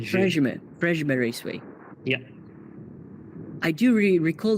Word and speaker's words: Prejmer: And this is Premier Raceway? Is that how you say it? You pronounce it Prejmer. That's a J. Prejmer Raceway.